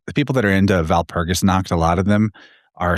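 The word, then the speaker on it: Walpurgis: wall or V of Val Pergus is obviously the same as Belle VB switch like it's spelled with a W. They pronounce it as a V and V switches with B.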